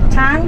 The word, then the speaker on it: Tang: Then the last dynasty, bite your tongue. Pronounce it. Tang Dynasty. Tang Dynasty, which is from 6th century AD to 9th century AD.